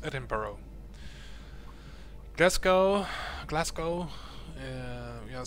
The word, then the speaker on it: Edinburgh: iess Edinburgh it's not pronounced Edinburg it's actually pronounced eduro Glasco Glasco uh we have Scotland here Scotland